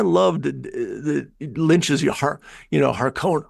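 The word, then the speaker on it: Harkonnen: the lynches you know Haron Haron not Haring you know it say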